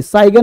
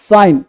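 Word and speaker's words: sign: अब इसे साइन जी से मतलब नहीं साइगन नहीं। साइन देखो डिज़ाइन रिजाइन नेट जी है ना साइलेंट।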